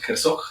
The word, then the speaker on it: Herzog: Estoy en este momento con Evelyn Ruiz y con Rubén Herzog, así se pronuncia.